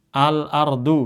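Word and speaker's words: الأرض: Contoh misalnya al-ardu misalnya contoh al ar du. Lihat kalau mushaf Madinah ini enggak ada harakatnya kecuali di lamnya doang. Nah, bacanya gimana? pakai rumus itu dibaca al jadi alardu.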